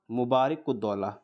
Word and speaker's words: मुबारक-उद-दौला: इस पे लिखा नहीं जा रहा अच्छे से, लेकिन अब मैंने प्रोनाउंसिएशन ठीक से किया है तो आप उसे लिख सकते हैं, नवाब मुबारक-उद-दौला।